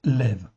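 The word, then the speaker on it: לב: Et ça se prononce l' ça s'écrit l'b mais ça se prononce lève.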